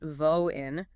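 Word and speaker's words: воин: First, you have pronounced Voin.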